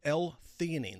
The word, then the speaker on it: L-theanine: Second thing you take is called L-theanine. That's spelled Theanine.